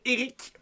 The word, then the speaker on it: Erich: Cette semaine, je reçois l'humoriste Eric Preach. Et Eric s'écrit E-R-I-C-H, Preach.